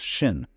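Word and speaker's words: 心: In Chinese, mind is this word pronounced shin, and shin is here.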